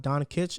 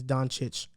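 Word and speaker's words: Dončić: mispronounced luka doncic's name it's not don kitch it's don chitch i say donkeys right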